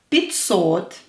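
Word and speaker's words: пятьсот: Here the here pay attention to the pronunciation. Pitsot. Pitsot. Or is stressed.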